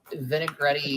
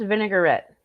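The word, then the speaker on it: vinaigrette: this like amazing like vinegret open the bag all the way Jesus craist no it's pronounced vinegarette vinegarette I don't know what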